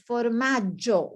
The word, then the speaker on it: formaggio: Another word, it's not formaggio, it's formaggio with double G, formaggio.